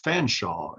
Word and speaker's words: Fanshawe: name was george uh fanshawe is is how i'm told it was pronounced it looks like a